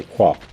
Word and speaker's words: Kvark: Standing out in the saturated, retro-inspired FPS genre is hard, though Quark, pronounced like the subatomic particle I think, has generated some traction thanks to several Half-Life comparisons.